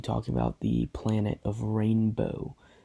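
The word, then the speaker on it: Ranboh: The Jeby are a species, and I will also be talking about the planet of Rainbow. That's spelled with R-A-N-B-O-H, not R-A-I-N-B-O-H, and not R-A-I-N-B-O-W.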